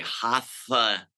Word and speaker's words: Hatha: You have to take the front of your tongue and you have to put it near your teeth like a TH sound, and you say Hatha yoga.